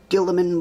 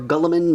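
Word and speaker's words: Guilliman: Okay, so what we're going to do for the engines is going to pull out the old Gilliman blue, or Gulliman, or however you wish to pronounce his name, and we're going to fill it in into the engines.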